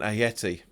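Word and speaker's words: Ayew: Snodgrass Sanchez Wilshire and a Yeti I think you pronounce a cos it's not a J it's not pronounced as a Jayce pronounced as a hater I think it's a Yeti so let's talk about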